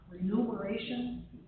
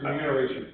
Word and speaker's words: remuneration: And then as far as you're suggesting that that is attached to the rem renumeration. No, it's remuneration. It's spelled incorrectly when it's renumeration.